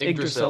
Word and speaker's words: Yggdrasil: Um It's pronounced Yggdrasil.